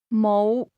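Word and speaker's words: 冇: Do you have How do you say don't have mo. Notice the low rising tone.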